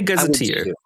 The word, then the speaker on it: gazetteer: Do you say gazetteer? Gazetter? I would say gazetteer. I would say gazetteer.